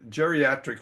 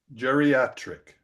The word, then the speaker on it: geriatric: any Jerry Jerry jerric no geriatric for example you've got an i and an a together but that's not a dip thong because the letters are pronounced jatri all right so I'm